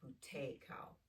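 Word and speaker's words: Buteyko: It's called bout cao uh breathing. I think I think the um focus is on the middle syllable. So it'd be bout cow is how you'd say it.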